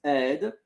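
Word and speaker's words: aide: Um but it's ED and it's a I d e a i d e ed and the e is silent.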